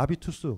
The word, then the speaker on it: 아비투스: 습관 색깔 전문용어가 되죠 불온 은 h 가 묵음 이니까 아비투스 그러니까 자본주의가 우리한테 어떤